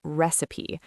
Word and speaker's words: recipe: The next important word we used when talking about cooking is recipe. R E C I P E. Recipe. Note the pronunciation.